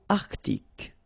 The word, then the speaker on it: Arctique: L'océan Arctique. Remember, tic, ic.